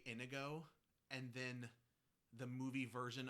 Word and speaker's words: Inigo: is La out and they say anigo that's weird that's not fairy tale that's not fantasy that's a bad pronunciation is it though because